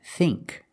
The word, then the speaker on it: think: like thing and think the dictionary shows the word thin with the same pronunciation as thing and think but they are different th h i n thin is a short I sound it I thin like this is this is thin but with ining G and I in K we use the long e sound like green beans thing and think use